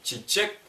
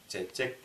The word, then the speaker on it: чечек: Не чичек, а чечек, ч. Чечек. Русским, если русским акцентом произносить слово чечек, будет чичек, чичек, ч.